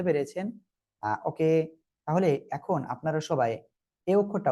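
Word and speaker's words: ث: একটা আলিফ টেনে পড়তে হবে, উচ্চারণটা এমনই হবে, বাট কিভাবে পড়তে হবে সেটা দেখেন এবার। জিহ্বার আগা, এই 2 দাঁতের আগায় লাগান, লাগিয়ে উচ্চারণ করেন। সা সা সা সা সা, হালকা বাতাস বের হবে।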